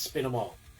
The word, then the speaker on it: Spine Mall: would say, kind of, it's Spin 'em All. Spin 'em All, like spin the records, spin 'em all, or kill 'em all, spin 'em all. It's spelled Spine Mall.